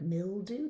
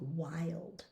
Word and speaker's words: wild: But sometimes this is a long i sound in some words. Think wild. There's only three words where this happens commonly, like wild, child, and mild.